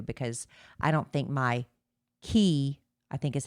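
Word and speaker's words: Quay: I don't think my key I think is how you pronounce them. They're spelled Q A Q U A Y, but I think it's pronounced key sunglasses I don't think they were quite dark enough.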